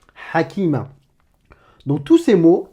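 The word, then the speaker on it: حكيمة: Tu vas me le prononcer ha, comme une expiration de l'air, mais râpeuse, étranglée.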